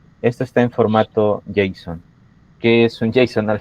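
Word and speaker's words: JSON: o N, que es que se pronuncia Jason.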